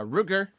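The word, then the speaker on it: Rutger: antagonist and Blade Runner it's dutch so difficult to pronounce for you but it's basically our version of Roger Ro okay I'll have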